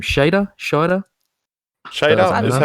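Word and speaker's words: Scheider: How do you pronounce his last name? Shader.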